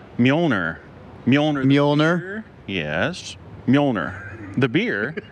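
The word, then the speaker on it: Mjölnir: I don't even know how to pronounce m j o l n i r what do you how do you say that mner and what is mner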